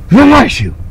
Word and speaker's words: Vanuatu: I understand the locals say Vanuatu, like a sneeze. Vanuatu!